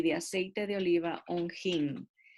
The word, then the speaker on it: hin: aceite de oliva un hin. Y harás, o en español sería un in, sin pronunciar la H, y harás de ello el aceite de la santa unción.